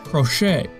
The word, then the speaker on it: crochet: Should we pronounce it crochet? Nope. Or maybe crotchet? 还是不对。最后发现其实它应该读成 crochet. Yes, that's right, crochet.